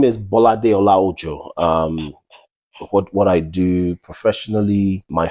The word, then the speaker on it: Bolade Olaojo: So that's BOLADE OLAOJO. It's spelled as it's pronounced, Bolade Olaojo.